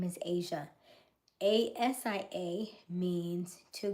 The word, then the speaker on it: Aysia: For example, my name is Asia. As si A means to go out and rise. My name is spelled a y ss i a.